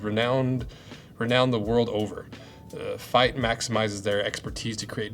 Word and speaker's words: Feit: Fight, pronounced fight, was established in 2005.